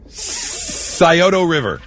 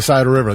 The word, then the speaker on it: Scioto: Scioto River.